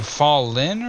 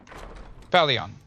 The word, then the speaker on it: Falion: How do you pronounce his name? Fallin or something? Falden? Falden. Falion. Falion!